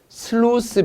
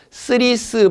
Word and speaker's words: 슬루스: 용도이거나 이런 밸브 구조는 슬루스 밸브가 있고 슬루스 밸브 현장에서는 이것을 일본식 영어 발음으로 그냥 스리스 발브 이렇게 말하는데 밸브도 발브 슬루스를 스리스 이렇게 이야기하는데 정확한 영어 발음은 슬루스입니다.